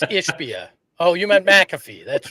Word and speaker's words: Ishbia: adjust you can't win I said his name wrong again didn't I yep yeah it's ishia oh you meant McAfee